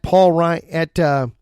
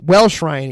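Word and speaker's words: Welsh-Ryan: It is a good one going on right now at Paul Ryan up in Evanston. Paul Ryan and Welsh Ryan. Excuse me, I kept saying it wrong. Welsh Ryan Arena there in Evanston.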